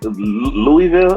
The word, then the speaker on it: Louisville: major recipe static major oh man he's from louisville a lot of people don't know that hold on they said you gotta teach me how to say louisville how do you say it man am i